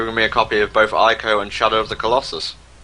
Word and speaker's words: Ico: I have never heard Ico pronounced as Eco before, ever. I don't know what in the world happened there, but that works.